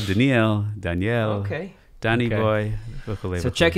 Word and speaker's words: Doniel: Doniel? Dude, it's like, who am I talking to? In modern Israel, Daniel.